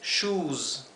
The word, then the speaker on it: shoes: Por lo tanto, esto no es shoes, es shoes, ¿sí? shoes. Así que la S de shoes se pronuncia así, como season.